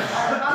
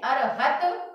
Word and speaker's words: अरहत: चौथा पद दिया है अरहत पुराण, अरहम नहीं है, अरहन नहीं है, अरहत, ता का उच्चारण होना है आधा।